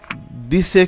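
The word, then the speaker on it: dix: দিসের ক্ষেত্রে ইক্স উচ্চারণ হচ্ছে স, দিস।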